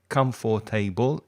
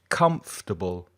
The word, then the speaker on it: comfortable: it's actually only three it's not come for table it's come from that's how i say it comfortable and the first syllable is stressed comfortable comfortable the second